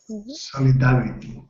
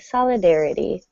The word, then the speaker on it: solidarity: Solidarity. So, we stress dare and the t at the end sounds like a d. Solidarity.